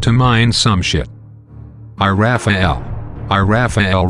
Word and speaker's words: iRaphahell: mine some I Raphael I Raphael rhymes with gazelle gazelle gazelle has seven